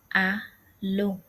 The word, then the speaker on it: Hallo: Hallo, hallo. The H sound is not pronounced. Rather, it's pronounced as a lo. H is not pronounced in the word hello. A lo. Alo means hello.